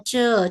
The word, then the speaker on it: 这: Ini bacanya ce.